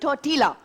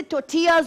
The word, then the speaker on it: tortilla: नहीं, देखिए बेसिकली लोग कहते हैं टोर्टिला। टोर्टिला इट्स लाइक चपाती, लेकिन वैसे टोर्टियाज होता है, इसका प्रोनाउंसिएशन एल साइलेंट होता है।